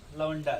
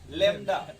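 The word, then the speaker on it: lambda: लवंडा से। तो मतलब बोलिएगा लवंडा ठीक है, बट याद रखिएगा लैम्डा।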